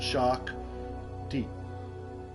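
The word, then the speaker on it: Shakti: okay it's just s h a k TI I thought there was like an apostrophe or something over something but no right well it says it's pronounced shock t Wonder like put the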